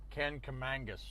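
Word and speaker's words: Kancamagus: i looked up kangamangas turns out nobody pronounces it the way it's spelled can come can commangus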